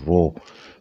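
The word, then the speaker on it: rho: one so this is density uh which is pronounced as so it's a raw but it's density raw don't dance it something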